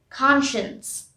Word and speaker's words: conscience: it's choir choir conscience conscience i now hear it's looking like science but it's conscience here we pronounce science